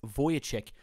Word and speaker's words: Vujicic: My name is Nick Vujicic, pronounced Vujicic.